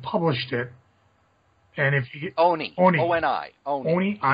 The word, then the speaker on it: Oni: Fun stuff, if you have never read it before, Omni, I believe, published it. And if you Oni, not my fault they can't publish their, pronounce their name right.